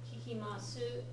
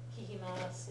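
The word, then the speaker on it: 聞きます: And just like with des, the final u sound on the su usually isn't fully pronounced. Kikimasu sounds overly emphatic. Kikimasu is the more normal way to pronounce it.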